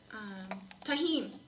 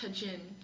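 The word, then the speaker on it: Tajín: No one that speaks Spanish will say pronounce that the J's as a J. Exactly. It's a heh. Yeah. Tahin. It's like pronounced as an H instead of a J.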